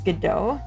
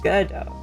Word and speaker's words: Godot: It's Godot. Yeah, Godot. He wrote waiting for Godot. Oh, I see. Yeah, I mean, if it comes from a word that already exists, then there is a correct pronunciation.